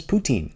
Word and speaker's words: poutine: It’s as Canadian as poutine. As Canadian as arguing about the fact that it's pronounce pou-tin.